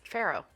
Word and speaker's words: farro: So I just Googled it, and I asked Google to tell me how to pronounce this word, and it's farro.